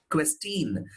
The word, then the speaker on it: question: It is not question. It is question. See, this is a chin. Am I right? Chin. It goes like question. That is how this word is pronounced.